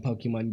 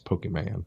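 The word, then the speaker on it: Pokémon: I do think we see a lot of the aspects from Pokemon Go. I think you're going to see a lot of it You from pronounce it wrong. It's Pokemon.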